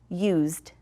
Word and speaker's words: used: So used has the d sound, used.